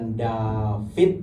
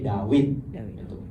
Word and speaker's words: Dawid: Jadi huruf waw itu dibacanya waw, bukan vav. Jadi bukan YHVH tapi YHWH. Bukan David tapi Dawid.